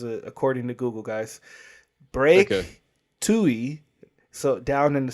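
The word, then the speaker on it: Twohy: I looked it up the pronunciation. This is according to Google, guys. Break Tui, so down in the sounds.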